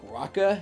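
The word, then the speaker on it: raki: Ever since I heard that R-A-K-I in Heaven's Vault is pronounced like Raka, like I've been like worried about pronouncing any new words.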